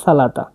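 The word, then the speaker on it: salata: পরবর্তী শব্দে দেখছি সালাদ সালাদকে সারভেনে বলা হয় সালাতা খুবই সহজ সালাতা দেখুন লিখা আছে এখানে এস এ এল এটি এ সালাতা সালাতা মানে সালাদ।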